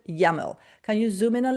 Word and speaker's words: YAML: We pronounce it YAML.